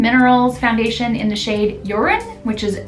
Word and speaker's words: Jorunn: foundation in the shade Jorunn, which is spelled Jorunn. And I looked up how to pronounce it and it sounded like they were saying Jorunn. Not urine, but Jorunn.